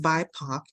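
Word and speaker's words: BIPOC: do something that affects our Behavior this term pronounced byac is an acronym for black indigenous and people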